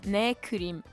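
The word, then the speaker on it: 내 그림: By the way, if you ever wondered what the Korean title says when you complete a painting, it's pronounced neim and it means my painting.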